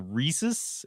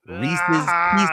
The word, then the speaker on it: Reese's: And then Reese's pieces. It rhymes with pieces.